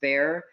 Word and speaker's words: Bexar: It's spelled Bexar, but it's pronounced Bear.